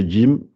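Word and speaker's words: جيم: Alors, normalement, la prononciation du djim, c'est pas du tout comme le J en français, le J. Donc, normalement, c'est djim, adj, adj.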